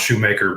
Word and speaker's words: Schumacher: And I've just been building up inventory with that because unfortunately, Michael Schumacher, actually, I think it's pronounced Shoemaker, but I'm changing the way it's said because I like Schumacher better.